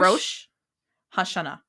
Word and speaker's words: Rosh Hashanah: I realize I say it very quickly. It's two. It's very. 2 words. Rosh. Hashanah. Hashanah.